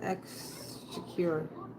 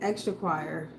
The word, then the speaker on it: Exchequer: That's 3 syllables. Thought it was extra choir.